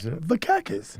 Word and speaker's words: Vakakes: Vakakes. Yeah. It's spelled like it sounds, though, actually. Yeah, It's so like, I'm like a cactus without the T.